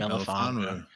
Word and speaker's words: Melifonwu: Milifonwu, I think. Melifonwu.